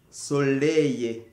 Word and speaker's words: soleil: Quand tu trouves la lettre E, I et L, ça donne le son Y. Soleil.